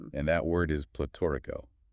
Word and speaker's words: pletórico: And that word is platorico. Pronounced plee-to-ree-ko.